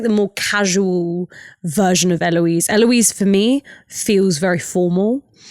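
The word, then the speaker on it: Héloïse: I think, my parents named me Eloise, but they gave me a silent H at the start and accents on the, it's the French spelling for Eloise.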